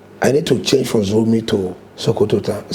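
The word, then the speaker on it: Zurmi: I didn't pronounce it well. She thought I meant Zuru. He said, how dare you call my town, small village? He said, I'm from Zuru. And I said, well, this is Zuru. And she now pronounced it well. She said, Zurumi.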